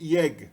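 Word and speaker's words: ég: Então, na primeira pessoa, a gente tem aí yeg, né? Esse E com acento agudo é pronunciado ye, no islandês moderno.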